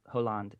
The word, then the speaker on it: Hollande: Like the president, Francois Hollande, I think is how you pronounce it. Hollande. Yeah, he said. Yeah, H is silent.